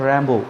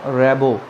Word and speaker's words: Rimbaud: কবির নাম হচ্ছে Arthur র্যাম্বো, উচ্চারণটা হবে র্যাম্বো বা র্যাবো, কিন্তু স্পেলিংটা লিখতে হবে রিমবাউড, RIMBAUD, রিমবাউড, but pronunciation will be Arthur র্যাম্বো।